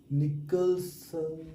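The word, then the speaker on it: Nicholson: नाम था William निकसन। निकलन में देखिए एच साइलेंट है और इनका लाइफ स्पेन क्या है?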